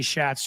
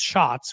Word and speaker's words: Schatz: I used to say Schatz too. I've been told it's pronounced Shots, which I understand why.